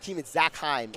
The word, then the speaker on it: Zachheim: It says to Zachheim is the correct pronunciation there.